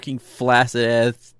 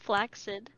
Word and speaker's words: flaccid: say it pronounced flaccid it's a k it's like tack no but there's two c's in it yeah the second c